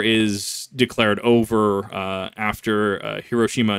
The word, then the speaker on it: Hiroshima: declared over uh after Hiroshima Nagasaki which I I I I'm not kidding when I tell you that people in Idaho that have taken Japanese as a class legitimately pronounced hirosima and nagasi and that that just